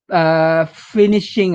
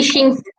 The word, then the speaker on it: phishing: And then there's some cybercrime is like finishing. I don't know how to pronounce it. Phishing. They call it Phishing.